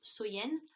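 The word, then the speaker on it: Samhain: Et, si vous voulez, dans le temps des Celtes, la plus longue nuit de l'année donc était Samen, donc qui se prononce Soyen.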